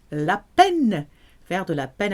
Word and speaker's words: la peine: Faire de la peine à quelqu'un. You've got a picture of a pen because that's how you pronounce la peine.